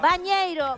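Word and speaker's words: banheiro: Bañeiro, mirá, yo les voy a ir diciendo cómo se dice en portugués, porque yo hablo portugués porque soy de la frontera, ¿no es así? Bañeiro. Bañeiro.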